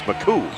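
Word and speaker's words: Machut: coached by Craig McCoo got the proper pronunciation m-a-c-h-u-t but they said his name is McCoo it's kind of a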